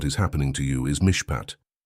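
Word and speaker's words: מִשְׁפָּט: The Hebrew word that defines exactly what is happening to you is mishpat. Pronounce it with me in a low voice wherever you are.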